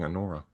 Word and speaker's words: Anora: you know, um but yeah, so she plays Allora. And Allora, I'm going to say her name wrong every time she It's right on the thing. Anora.